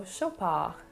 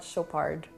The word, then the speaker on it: Chopard: once again the ar kind of light and airy so chopa and not chopard now we have mont